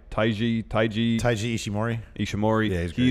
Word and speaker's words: Taiji Ishimori: He returned, attacked Will Ospreay, and he is how do you pronounce his name? Taiji Ishimori.